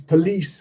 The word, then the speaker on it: police: syllable, like football, problem, not police, because police has the second syllable is stressed, etc.